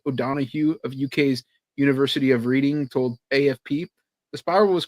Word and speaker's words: Reading: Dam dam Tony's right the town of reading is pronounced reading then how do you